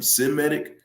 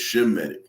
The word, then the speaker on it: Semitic: Semitic, that's not how you say it. It's Shemitic.